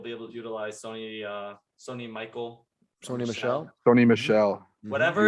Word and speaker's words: Michel: Listen, first off, I get corrected whenever I say Sony Michelle. All right, so I say Sony Michael now, and it's spelled like it's Michael without the A.